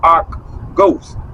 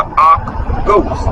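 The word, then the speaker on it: Akh ghost: All are rations for the Ark Ghost. And it's spelled AKHGHOST. The Ark Ghost.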